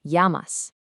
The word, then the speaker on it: llamas: Look at the double L in llamas. In Spanish, that double L sounds just like the letter Y in English, so it's llamas.